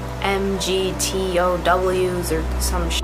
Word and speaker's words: MGTOW: that group, but still, even I know it's pronounced MGTOW.